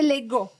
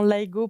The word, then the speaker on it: Laigo: Et donc, c'est Legault. Legault, la prononciation, on va dire, authentique, Legault. Oui, Et c'est vrai que moi-même, je dis souvent Laigo pour éviter les erreurs d'orthographe, mais Legault. Oui, c'est Legault.